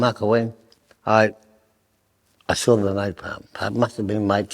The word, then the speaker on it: napalm: And I used to love napalm. Napalm it's spelled exactly the same as the oil that they used in Vietnam.